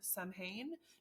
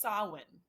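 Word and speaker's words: Samhain: one like it is it is spelled s a m h a i n so I'm sitting here reading it like Sam Sam samhan no it's Sinn there's a w in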